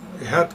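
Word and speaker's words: אחד: El famoso vocablo Het o Ehat, como lo pronuncian ustedes, que significa los principales.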